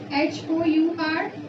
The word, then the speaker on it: hour: जब H जो है वो साइलेंट होगा किसी भी वर्ड में। फॉर एग्जाम्पल अगर हम बात कर लेते हैं our, HOUR, ठीक है।